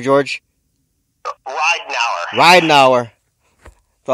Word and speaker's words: Reidnauer: how do you say your last name George Ry now ryau so how how's it how's it going